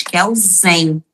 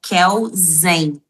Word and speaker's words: Kelsen: Porque a gente escreve Hans Kelsen, com S. Mas na hora de mencionar, na oral, você tem que falar Hans Kelsen. Ele é Kelsen.